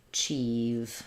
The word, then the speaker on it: achieve: that pushed out sound um the IE says e in this word so uh achieve I'll rewrite that for you with two e's achieve I hope you can achieve um correct pronunciation of the word achieve and make sure that you have the sound it's voiced at the end there don't let it become a chief but rather achieve um